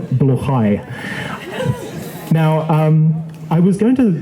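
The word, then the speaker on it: Blåhaj: We have the stuffed IKEA shark blahage, or to use the proper pronunciation, which I'll probably mangle, bluchai.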